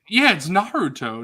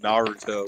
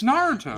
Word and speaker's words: Naruto: It's Naruto. Nar. Like an Australian saying no. Like Narwhal? That's how you say it. I think Zoo and I are just saying in a white dude accent, Naruto, dude.